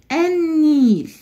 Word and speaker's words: النيل: النيل اول كلمه قابلتني اللام هنا انا نطقتها وقلت النيل صعبه انا قلت النيل والنيل بعد الالف واللام حرف النون وحرف النون لما يجي بعد الالف واللام بتبقى اللام هنا لام شمسيه مش كمريه النيل ما نطقت اللام